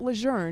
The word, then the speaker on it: Lejeune: He says that's what he was taught, but he says Camp Leour now it's historically correct and it's consistent with the wishes of the family.